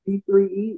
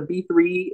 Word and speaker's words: B3E: The name is Joanz B, J-O-A-N-B-3-E, not pronounced B-3-E, is B. The three in the B-3-E is standing, and it comes from my third time of success.